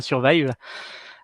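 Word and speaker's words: 2URVIVE: Ça s'écrit Survive avec un 2 à la place du S, mais ça se prononce bien Survive.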